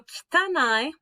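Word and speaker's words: 汚い: So kitanai, make that sound like don't quite say the I.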